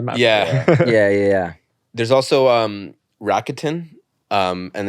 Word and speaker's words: Rakuten: So like it's actually luck 10, but in Japanese it's laku, like the Japanese pronunciation Rakuten, so Rakuten.